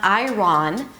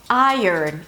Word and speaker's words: iron: vowel, it is not iron, But iron, as if I earned it. I, as in my, and then you have a little U sound, and then as in earn, earth, and early.